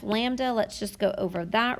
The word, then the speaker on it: lambda: is a new variable for us this is pronounced lambda and this is in meters i'm sorry not